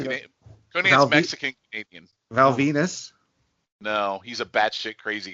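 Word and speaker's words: Val Venis: Val Venus. No, he's a batshit crazy guy now. Rhymes with penis.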